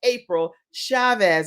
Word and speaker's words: April Chavez: And you guys, we are having the best time today because it is totally a celebration in honor of April Chavez.